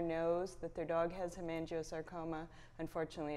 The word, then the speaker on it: hemangiosarcoma: Correct me if I'm saying it wrong, the Hemangioma Research Initiative. Hemangiosarcoma, yes.